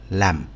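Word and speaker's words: lamb: لاب لاب لاب لامب والبي ده ما بنشدش عليه قوي لان هو في الغالب ما بيتنطقش بصوت واضح اختها بالضبط اللي هو الخروف الصغير لا والبي سايلنت ما بتتنطقش كانت بتتنطق زمان في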